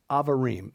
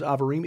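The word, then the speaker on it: Abarim: tom horn amen to that the definition of avarem and in your bible that's spelled a-b-a-r-i-m that's the name of the mountain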